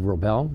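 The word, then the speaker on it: Wrobel: my name is Dave robell yes the W is silent and like in high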